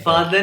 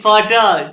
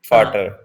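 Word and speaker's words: Vater: माय फादर इज बिनेस फादर नहीं फाटा ये spelling तो देखो यार फाटर बिनेसमैन को यहां पे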